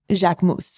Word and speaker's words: Jacquemus: It's called Jacquemus, which is his name, which is the correct pronunciation.